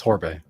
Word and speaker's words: Horbay: Just the way it looks, Horbay.